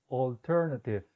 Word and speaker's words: alternative: Vamos a hacer esto por partes, esta pronunciación por partes. La primera sílaba, all, all. Siguiente sílaba, ter, ter. Finalmente, native, native. Todo junto, alternative, alternative.